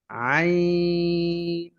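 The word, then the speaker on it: عين: আইন আইনটা হবে আই তাড়াতাড়ি ধরবে তারপরে লম্বা হয়ে নুনকে ধরবে আইন আইন উচ্চারণ হয় গলার মাঝখান থেকে মিডিয়াম চাপ দিয়ে একটু চাপ দিয়ে উচ্চারণ হবে।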